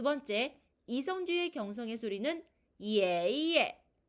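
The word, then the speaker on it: 爷爷: 자, 발음은 예로 발음을 해보도록 할게요. 예, 예.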